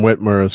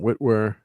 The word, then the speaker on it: Witwer: through the actors here so we've got Sam whitmer's Kirk of course William chatner whitw Whit thank you whitw so four Lon neemo William Shatner Sam Witwer my name and pron pronunciation of names always